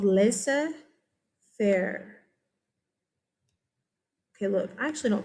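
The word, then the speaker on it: laissez-faire: And I asked him, hey, how do you say this word? You know what he told me? Laissez faire. So whatever, okay, if you hear it laissez faire in America, okay.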